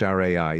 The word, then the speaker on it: li: For example, in 707 CE, one Japanese empress proclaimed that all the ways of government take the li, pronounced rai in Japanese as foremost.